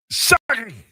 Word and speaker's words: Sakic: And in the interest of keeping our Canadian citizenship, I think it's important that we pronounce it correctly. Joe Sakic, as Bob Cole would say.